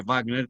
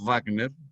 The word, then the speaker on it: Wagner: les recordaré que digan Wagner, porque la V se pronuncia en alemán labio dental, no como ustedes están acostumbrados a pronunciar en inglés la W que es gutural.